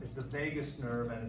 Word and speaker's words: vagus: is the vagus nerve, and it's spelled this way, not like what happens in Vegas. It's not spelled that way, it's spelled this way. Vagus. Vagus. Vagus.